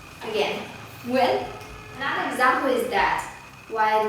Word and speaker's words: Nguyễn: Believe it or not, I have seen so many people struggling to pronounce one of the most common surnames in Vietnam correctly. Nguyễn. Come on, try it. Nguyễn. Again, Nguyễn.